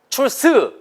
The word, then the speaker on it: truth: 네, 이게 TH 발음은 스 발음이에요. 일단은. 근데 이 발음을 출스 이렇게 발음하시면 안 돼요. 출스 이렇게 발음하시면 틀린 발음이에요. 100%.